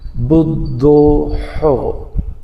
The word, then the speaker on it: بدوح: کو بدو پڑھتا ہے، کوئی اس کو بدو پڑھتا ہے، نہیں، اس کا اصل تلفظ ہے بدوحو۔ اس کو آپ نے ہاتھی والا ہے نہیں نکالنا، اور شد ہے اس کے اوپر، دال کے اوپر، اس کا خیال رکھیے گا، اور سب پہ پیش ہے۔ یا بدوحو یا بدوحو